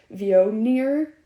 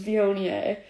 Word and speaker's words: Viognier: spelled v-i-o-g-n-i-e-r so like originally i always thought it was pronounced like v-o near or something like that uh so for any like wine babies out there that don't really know how it's pronounced as bionier or at least that's the americanized version of it uh it originally is from